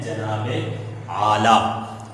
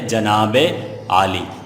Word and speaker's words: جناب عالی: اکثر لوگ اسے پڑھتے ہیں جناب اعلیٰ، مگر درست تلفظ اس کا کیا ہے؟ جناب عالی.